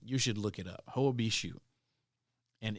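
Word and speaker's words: Hoia Baciu: yeah you should you should look it up ho bishou and it's spelled h-o-i-a-b-a-c-i-u obishu forest you've probably heard of that place maybe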